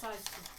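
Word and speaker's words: Syksy: It's pronounced Saiski.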